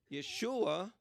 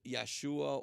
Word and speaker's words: Yeshua: period by the way never use yahshua or i don't know where all these guys are coming up with all these strange pronunciation yahshua yahshua never appears in scripture at all you never see this pronunciation but in nehemiah 8